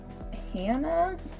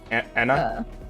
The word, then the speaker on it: Anna: probably yeah uh how long have you in hannah sorry anna anna that's how you pronounce her name okay yeah were you going